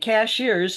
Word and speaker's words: Cashiers: Cashiers is spelled just like a cashier at the uh grocery store. And cashiers is how they pronounce it here.